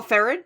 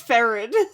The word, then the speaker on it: Ferid: he wasn't murdering children fareed was great oh farron yeah is that how they say his name in the sub it's ferid oh okay okay gotcha